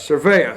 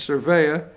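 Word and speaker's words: Cervera: 56 the police chief pronounce his last name again for me Josh what surveyor Thank You Josh surveyor struggling today Chief James surveyor he hit them with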